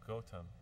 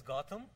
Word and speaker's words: Gautam: well, see, in Canada, in India is Gautam. Gautam in Canada is Gautam, like Gautam City.